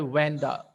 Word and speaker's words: Wanda: Some people pronounced this word Vanda. In your hell book, it is given Vanda Petronsky. You can say Wanda Petronsky.